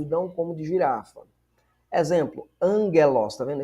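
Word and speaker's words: ἄγγελος: Exemplo, Angelos. Tá vendo? Esse esse gama aqui você lê como se fosse um N.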